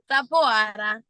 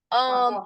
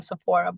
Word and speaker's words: Sapoara: Sapoara. Sapoara. Originally the pronunciation is Sapoara. Everyone gives it its own touch. So everyone's gotten used to saying Sapporo, but I don't mind how you guys say it.